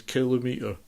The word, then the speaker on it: kilometre: about Britain, which is the way people pronounce kilometre. They say kilometre. How can it be a kilometre? It's a kilometre. No one says millimetre or centimetre, do they?